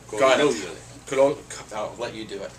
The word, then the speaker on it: Colognole: Colognole. Accent of the second O. Colognole.